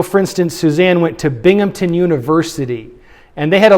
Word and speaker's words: Binghamton: And you know what all the kids from there called it? Binghampton, right? Because they're thinking of the Hamptons. They put a P in that.